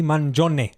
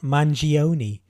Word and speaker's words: Mangione: I have to say the killer Luigi Manon not mangioni Italian name Italian pronunciation to the feds I'll